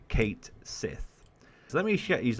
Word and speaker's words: Cait Sith: or Ki okay so all of my life and all of a lot of people's lives if you lived in the west probably pronounced and I say probably because not everyone did but probably announced a a certain character in Fantasy 7 as Kate Sith so let me sh